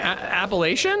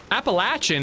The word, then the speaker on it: Appalachian: Am I pronouncing it wrong? Appalachian. I feel like that's a right way to pronounce it. Appalachin is like like the the like you live in the in the Appalaches.